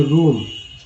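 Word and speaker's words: room: Are double M रूम, उच्चारण हुआ बड़ी यू के रूप में।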